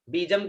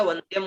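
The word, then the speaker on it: वन्द्यम्: विश्वाद्यम विश्ववंद्यम, बीजम की जगह वंद्यम उच्चारण करना है, ठीक है, वंद्यम निखिल भयहरम पंचवक्त्रम त्रिनेत्रम।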